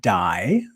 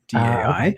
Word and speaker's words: Dai: spelling and they're like it is pronounced die die which is a Welsh name for David and my last name